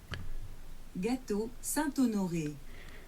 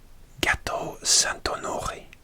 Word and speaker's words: Gâteau Saint-Honoré: Gâteau Saint-Honoré. Gâteau Saint-Honoré. Gâteau Saint-Honoré.